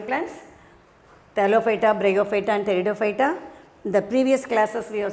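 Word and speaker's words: Pteridophyta: thalophyte thalophyta bryophyta and theodophyta yes p is silent i said do you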